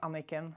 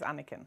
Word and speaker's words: Anniken: your first name uh in norwegian it's pronounced anakin right but the english way is anakin anakin right okay perfect